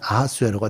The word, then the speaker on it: 아하수에로: 히브리어적으로 발음을 하면 아하수에로가 되고, 헬라적인 발음을 하면 크세르크세스가 되는 그런 발음이 되죠.